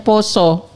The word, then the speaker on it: pasa: Nah, ternyata ee di dalam penanggalan Jawa itu tidak ada bulan puasa, adanya bulan tulisannya pasah tapi dibacanya poso.